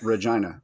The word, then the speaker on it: Regina: like selling clothing saying Regina the city that rhymes with fun that's actually amazing that's